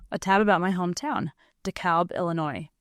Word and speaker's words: DeKalb: A tab about my hometown, DeKalb, Illinois. We pronounce the L in DeKalb.